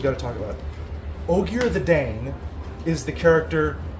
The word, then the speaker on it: Ogier: Odgir does not work. So they dropped the D. Ogier.